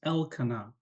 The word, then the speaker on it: Elkanah: Now, there is a little stress on the first syllable, the EL. So it's Elkanah.